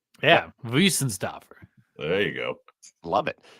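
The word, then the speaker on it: Weihenstephaner: No, but in German, I believe the W is pronounced with a V. Yeah, Wiesenstafner.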